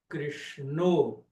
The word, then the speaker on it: Krishna: Na Bengala, especialmente, você vai ouvir a pronúncia Ramo, Krishno.